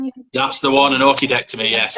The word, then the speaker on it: orchidectomy: When you That's the one, an orchidectomy. Yes. How do you say it? Orchidectomy. Orchidectomy. Like the flower. That's it, right? Like the orchid.